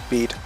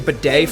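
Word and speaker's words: Bede: Bead. Okay, because I was saying bidet for a minute.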